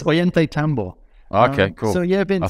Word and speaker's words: Ollantaytambo: Or what was life like then in Peru, in the small town Oyatana? How do you say it? Oyatana? It's Ollantaytambo.